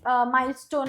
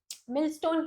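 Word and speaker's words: millstone: किसी के ऊपर कोई प्रेशर है तब अपन इसको यूज करते हैं, ठीक है, कि माइलस्टोन around the neck. Spelling यहाँ पे एक्चुअली थोड़ी सी गलत है, बस MILL नहीं, मिलस्टोन ही होना चाहिए, sorry, मिलस्टोन around the neck, ठीक है, नॉट माइलस्टोन.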